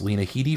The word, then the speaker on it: Lena Headey: Thrones 12 to 11 first off I love that you pronounce Lena Headey correctly so many people even die hard Game of Thrones fans mispronounce that introducing Franky's that's vanish and there goes the man of controversy mr.